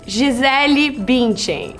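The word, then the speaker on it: Gisele Bündchen: This is Gisele Bundchen. That's how we say her name, okay? That's how her mom, probably says her name.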